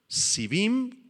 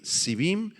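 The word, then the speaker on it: שבעים: la palabra hebrea es civim con i latina las dos y acento en la segunda ahí civim y en el idioma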